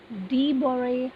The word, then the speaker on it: de Broglie: You can pronounce it as de Broglie hypothesis.